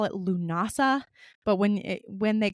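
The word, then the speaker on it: Lughnasadh: They also call it lunasa, but when it when they call it lunasa, it looks like lagna because that's the way it's spelled, but it's pronounced lunasa.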